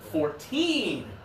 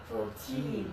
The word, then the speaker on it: fourteen: This one here, when it's the lower number, it's the final syllable. 14. 14.